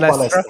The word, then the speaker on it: Palestra: Am I pronouncing it right? Would that Palestra. Be right? JM Palestra, yes. I'm trying my Portuguese. It's in the description, it's